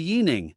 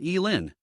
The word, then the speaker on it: Yining: My name is actually Yining, not Yin.